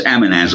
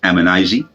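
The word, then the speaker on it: Amanaz: album called Africa by it says amanz on here but I've been told it's pronounced amazi and just show you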